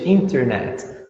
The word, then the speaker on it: internet: Bem British, internet. Como que o American English vai falar internet? Eles falam internet. Internet. Não tem o T, não é inter, é só inner. Internet.